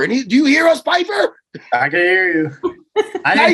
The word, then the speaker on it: Pyfer: myself leave knower like P like pie in the sky Piper I thought I said Piper and do you hear us Piper I can hear you